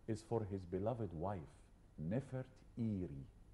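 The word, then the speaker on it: Nefertari: for his beloved wife nef eie not nefari there is no a in the name of this lady we are pronouncing her name wrongly oh there is no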